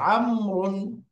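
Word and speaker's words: عمرو: বাক্য আসছে এখানে একটা নতুন নাম ব্যবহার হয়েছেন আমর আমরুন আমর আমর শব্দটা লিখার মধ্যে খেয়াল করছেন আপনারা শেষে একটা ওয়াও কোন উচ্চারণ হচ্ছে হচ্ছে না এই ওয়াও এর আলাদা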